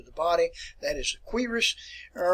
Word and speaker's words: cuirass: All right, now, if you notice here this term which is called, let me pronounce it for you, cuirass.